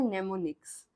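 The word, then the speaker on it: mnemonics: नेमोनिक्स जो है इसमें एम साइलेंट होता है। इसलिए हम इसको सिर्फ पढ़ते हैं नेमोनिक्स। क्योंकि एम जो है वह साइलेंट बोला जाता बोला नहीं जाता साइलेंट रहता है। सो इट इज रेड एज नेमोनिक्स।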